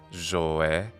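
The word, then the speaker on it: ζωή: In Hellenistic times, the zda pronunciation seems to have been largely replaced by geminated z. Thus, the word for life in Hellenistic Koine pronunciation would be zoe.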